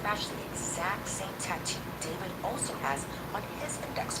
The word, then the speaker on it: D4vd: Celeste David Anthony Burke, better known by his stage name David, but spelled with a 4.